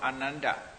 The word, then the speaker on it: Ananda: They say only Anand, not without da pronunciation. Indians are always, you see, without using the end sound vowel. End sound is never used. They only half sound they use. Ananda, they say Anand. Anand, only Anand. Magadha University, Magadha University, not Magadha.